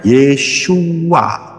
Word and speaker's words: Yeshua: Yod Shin Waw Ayin bacanya Yeshua.